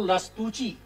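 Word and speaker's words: Lastrucci: दूसरे नाम है कार्लो लस्तुची, ये डबल सी जो है चे बोला जाएगा, नाम का प्रोनाउंसिएशन बड़ा कठिन है।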